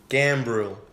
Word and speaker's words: Gambrill: I feel like you didn't pronounce the R. Gambrill.